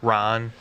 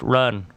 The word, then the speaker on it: Ran: Yojimbo and Ron. It's pronounced run.